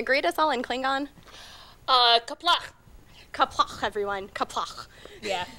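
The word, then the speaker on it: Qapla': Kaplach. Kaplach, everyone. Kaplach. Yeah, gotta work on your pronunciation there, and don't be afraid to spit. If you're spitting, you're doing it right.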